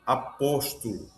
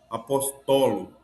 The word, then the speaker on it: apóstolo: Outro apóstolo. É o correto dizer apóstolo. Não tem alguém por falta de leitura correta diz apóstolo ou apostólogo.